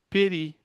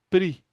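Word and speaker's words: פרי: E aqui eu temos, ó, peri, que quer dizer fruto. Geralmente eles vão pronunciar pri, né?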